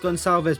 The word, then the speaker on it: Gonçalves: As Pedro, I believe it's actually pronounced Gonçalves, but I'm going to pronounce Goncalves.